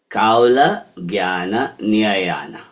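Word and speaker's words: Kaulajñānanirṇaya: So the KAULAJNANIRNAYA is like, so to say it, I'll say it for you, KAULAJNANIRNAYA. So the RN becomes Niya, Niyayana, right? KAULAJNANIRNAYA, right? That's how you say it.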